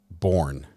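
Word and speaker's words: Bourne: u r n e the E is silent though b o u r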